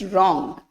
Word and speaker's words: wrong: Next, wrong. So W is there. Silent. Night.